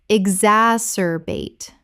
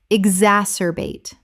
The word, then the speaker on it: exacerbate: exacerbate Common mispronunciation. ex-as-cer-bate Correct pronunciation. exacerbate Four syllables with the stress on the second.